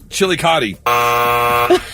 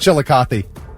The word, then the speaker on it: Chillicothe: Chili cotti. Chili. What the hell is it? Chillicothe.